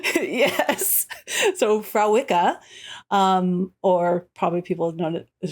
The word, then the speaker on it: Fréwaka: I do, but I want to pronounce it correctly. Fréwaka. Fréwaka is how you.